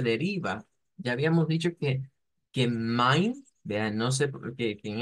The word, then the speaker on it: mein: Y aquí es donde diríamos, bueno, eso pareciera que suena como Mainer de ahí. Pues sí, pero lo estamos leyendo en español. El problema con esto es que no suena así.